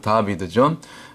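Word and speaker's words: דָּוִד: 영 다라고 그러죠 다 다 혹은 다윗 다비드 원래 발음 다비드 이게 이제 다윗의 숫자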